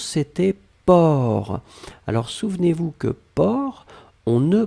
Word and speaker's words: porc: la dernière chose c'était port alors souvenez-vous que port on ne prononce pas le ces finales d'accord mais on